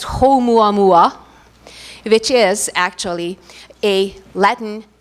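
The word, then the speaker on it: ʻOumuamua: If I got it correctly, you're supposed to pronounce it as Oumuamua, which is actually a Latin name, Hawaiian name for first messenger or scout.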